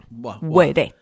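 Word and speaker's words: Wêrê: I'm pretty sure, I'm nearly sure that in the Guarani language, I hope it is Guarani, that the W sounds like an U. Uerê.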